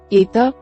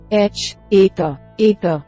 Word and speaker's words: eta: Eta makes an e sound, as the e in the English word meat.